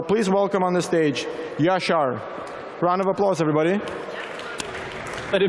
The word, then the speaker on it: Yashar: Don't mind learning how to pronounce it, Yashar. When I was living in the US, I called myself, so you can call me that when you talk to me afterwards.